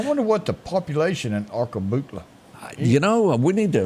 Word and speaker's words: Arkabutla: And I still can't pronounce it. It's fishing up there. Am I saying this right? Butler. Say it. Arkabutla.